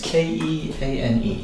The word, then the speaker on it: Keane: First name is Keane. Okay. And how do you pronounce it? It's like Ian with a K Okay. Kean. Kean.